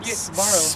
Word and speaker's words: Sbarro: The S is not a silent. You gotta say it like Sbarro. Sbarro. Because there's no A in between it.